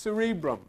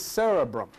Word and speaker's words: cerebrum: That word is not pronounced cerebrum. There is a cerebral, this is cerebrum. How do I know it's pronounced the way? Because I have a talking dictionary, that's how I know. And they pronounce every word. And the guy, when this comes on, says, cerebrum. Woo, that's what I wanted to hear, see?